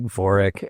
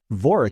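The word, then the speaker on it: Vorik: Tori is spelled T A U R I K. Voric is spelled V O R I K, but phonetically they're the same.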